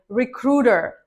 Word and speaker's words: recruiter: Recruiter. Recruiter. Not recruiter, it's recruiter. The stress is on the ru part.